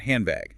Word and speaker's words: handbag: Consider the word handbag. Handbag. To say the B in bag, you must press both of your lips tightly together. Your brain knows the lips need to close for the B. So while you're still saying hand, your lips close early. Because your lips are closed, the N sound turns into an M sound, and the dead gets crushed entirely.